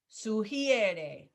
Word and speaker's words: sugiere: Sugiere, sugiere. So again, it's the pronunciation that tripped you up there. E to I.